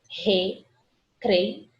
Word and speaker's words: recreio: Recreio. Esse izinho a gente quase não escuta a pronúncia dele, né? Recreio. Recreio. Ele fica apagadinho, né?